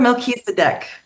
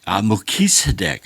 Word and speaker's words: Melchizedek: Order of Melchizedek. Melchizedek.